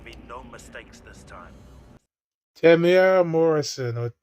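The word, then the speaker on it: Temuera Morrison: Tamara Morrison. That's how you pronounce his name, by the way. Everyone's been saying Tamora and it's Tamara.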